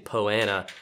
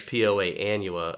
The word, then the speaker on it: Poa annua: opportunity to redeem himself from pronouncing poana as Poa Annua a few years ago